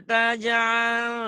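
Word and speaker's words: تجعل: Kamu tadi bacanya la yaj'al. Itu tak lagi. Ayo. Nggak ngaku la salah. alama. Terusin gangguan internetnya ya. Nggak apa-apa. Terusin rekamannya terusin. La taj'al yo. Bukan yaj'al.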